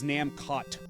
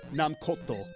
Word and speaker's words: Namcot: And it's not even a soft T. I believe even in a katakana it says Namkoto. So it's not even like they're trying like a fancy silent T thing like it's French or something. Because like that was my